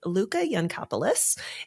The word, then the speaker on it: Luká Yancopoulos: I am joined by Luca yanis and you know what I should double check is that how we pronounce your name that's exactly how you pronounce my name it sounds like you